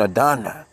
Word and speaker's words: Adonai: In prayers, it is replaced by the word Adonai. Hebrew pronunciation Adonai.